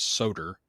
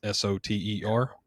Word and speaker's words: Soter: It could be coming out soon, but it's the Spartan Knives Soter. I think that's how you pronounce it. It's Soter.